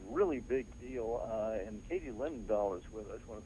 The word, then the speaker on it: Linendoll: I spell it Linendoll, like linen doll.